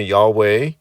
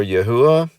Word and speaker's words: Yahweh: Well, we can observe that God, or I'm going to call him Yahweh, or some people say Yahweh or Yahuwah, instructed Israel in the